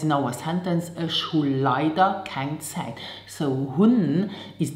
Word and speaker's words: leider: So let's start with the first adverb, leider, and pronounce it leider.